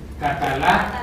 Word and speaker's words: Catalá: Catalá, porque hay un acento en la, ¿verdad?